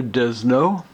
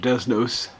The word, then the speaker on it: Desnos: longer title it depicts Rober desno English usually be pronounced as Robert desnos D S no o he was a non-jewish